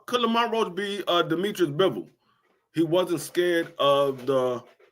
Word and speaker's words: Bivol: Could Lamont Roach be Demetrius Bivol?